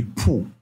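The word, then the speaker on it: 不: Donc ici, ta c'est il, jin tian c'est aujourd'hui, pour, ça veut dire non et c'est au quatrième ton. Vous voyez comment je prononce, je dis pour, c'est au quatrième ton.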